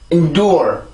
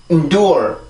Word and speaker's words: endure: 자, 다시 endure. 다시 한번 endure. 한 번 더 endure. 자, 이렇게 해서 요 단어를 발음을 해주게 되는데 요거는 굉장히 중요한 거예요.